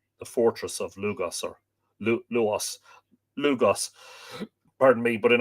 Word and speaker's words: Lugh: uh logo donna the fortress of lugos or luas lugos pardon me but in irish it's lug